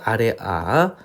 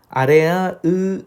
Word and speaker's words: 아래아: 아래 아의 발음은 아보다는 좀 깊고 무거운 소리로 발음되었을 것이다. 여기서 뭐 정도로 발음이 되었을 것이다 라고 추정하는데, 여러분 그냥 읽으실 때 아라고 읽으시면 됩니다.